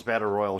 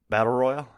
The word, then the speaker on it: Battle Royale: Battle Royale? Battle Royal. Battle Royale. It sounds fine. Doesn't sound any weirder than Battle Royale. Well, Royale sounds stupid, but that's how you say it.